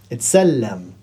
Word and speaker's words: اتسلم: You didn't pronounce the fatha. تسلم. Well, in Fusha we would write تسلم. But in Ammiya we say اتسلم, as if it was a sukoon there.